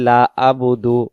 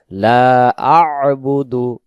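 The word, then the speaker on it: لَا أَعْبُدُ: পারে আমরা যদি বলি লাবুদু লাবুদু অনেকে বলি লাবুদু তখন হবে লাম জবর লা পেশব দাল পেশ দু লাবুদু তখন এই আইন অক্ষরটা এখানে ছুটে চলে যাবে এখানে উচ্চারণ হবে লা আবুদু লা আবুদু লা আবুদু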